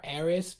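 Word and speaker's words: Aeris: mean I call her arias because that was the way it was spelled originally I don't care it was an error I pronounce the S because it had an S at the start of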